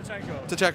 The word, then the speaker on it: Tcheko: Tcheko, okay.